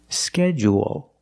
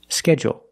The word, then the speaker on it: schedule: for the trucking Fleet so in both pronunciations we end with a dark L because the L is after a vowel at the end of the word schedule schedule what is longer schedule and it has an extra sound it's not like pool and cool it's scheduled there's an extra vowel there or you can make it short and say schedule schedule also we notice